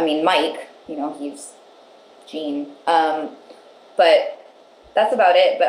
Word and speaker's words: Jean: all done been corrected like gene is pronounced like French like Jean Jean go Jean Valjean